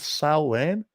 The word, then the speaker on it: Samhain: the S the s s Sam S it's pronounced s uh actually the uh the Celtic way of saying it is s Wayne I don't know if you knew that okay